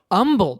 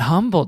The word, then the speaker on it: Humble: Okay, but you would consider the Deerbrook Mall in Humble, Texas. That's your mall. Yes, although it's pronounced Humble, Texas, not Humble, Texas.